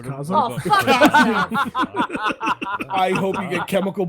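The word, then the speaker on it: Kazaa: I forgot about kah it's pronounced Kaza I hope you get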